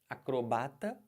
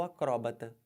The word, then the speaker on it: acrobata: diferente olhem para cá você pode falar acrobata ou acróbata cromata ou acroba os dois estão certos fica a seu critério